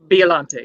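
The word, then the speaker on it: Biollante: And this is the I always mispronounce it. Biolante, am I right? Biolante, yeah.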